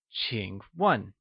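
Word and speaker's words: 请问: new words we learned Ching is pronounced with the falling rising tone and starts with a sound whereas 1 is pronounced in the falling tone let's hear you say Ching 1 good job once again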